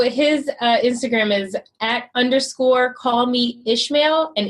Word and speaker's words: Ismail: So his Instagram is @_call me Ishmael, and Ishmael is spelled ISMAIL_. Okay, so, no H. Nope. Okay. Nope. He always like, is that your mail? And I'm like, or you could just say is in mail.